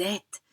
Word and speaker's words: êtes: Because in this case, we don't pronounce the ES. It's a little bit of a longer word, so we don't pronounce that final S, and E sounds can be dropped.